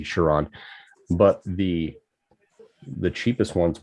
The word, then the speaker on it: Chiron: special edition shenrons um chiron i should say we're saying it wrong think of dragon ball z sure on but the the cheapest